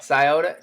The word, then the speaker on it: Scioto: Scioto. Did I say it right, Timmy? Yeah. Scioto.